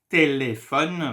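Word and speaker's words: téléphone: it in French telephone there is Accent on the E here this is why we will pronounce it like a so anytime you see an gra gra in French you have to pronounce the sound a sometimes there is no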